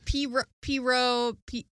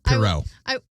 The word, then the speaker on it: Pierrot: character was so popular that he created this Poirot or Pierrot or Poirot. That's the best you've ever pronounced his name. It's Pierrot, there's not pirate, but the pirate clown.